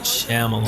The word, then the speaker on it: Shyamalan: I can never pronounce it. M. Night Shyamalan.